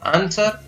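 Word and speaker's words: answer: इसी प्रकार कुछ और शब्दों में भी W का उच्चारण नहीं होता है, जैसे आंसर, शॉर्ट, टू।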